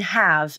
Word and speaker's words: have: in the word have have to in this phrase the final v in have is almost always unvoiced which means the v is pronounced like an f consonant why because of assimilation